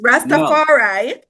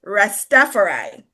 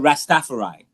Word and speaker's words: Rastafari: They said it's it's Rastafari. Yes. The Jamaican pronunciation because of where it's originated. But when you go elsewhere, it's Rastafari. But let me tell you why. Let me tell you why it's not Rastafarai.